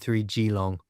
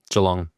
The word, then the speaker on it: Geelong: Iron Man 70.3 Gilong. Is it Gilong? Is that how you pronounce it? Jalong. Jalong. So, not Gilong. Not Gilong. Jalong. Okay. So it's like a J.